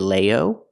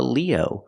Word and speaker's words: Leo: months you are a Leo remember it's countable we say a a Leo use the long e like green beans Leo Leo you're not a